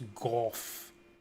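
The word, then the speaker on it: Gough: how go hunts dragons it's pronounced go oh we do get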